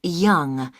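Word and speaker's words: Younge: now can I have your name yes it's young j h young that's that's spelled y o n g e that's young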